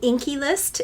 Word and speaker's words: The Inkey List: that is called the the inky list it's spelled differently like this but that's what it means and I think one